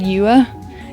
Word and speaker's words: Yue: That's not how you pronounce that. That is not how you pronounce that. So Y-U-E. He said Yue. It's Yue.